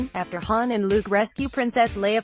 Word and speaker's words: Han: during the Lando mispronouncing Han's name. The correct way to pronounce Han is like on, but in Solo, Lando pronounces it more like hand, without the D.